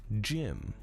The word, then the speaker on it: Zim: betrayal fun random fact but in Japanese Zim's name is pronounced Jim due to the absence of the Z sound as a result there is no distinct difference between Zim and Jim when their names are spoken this led to an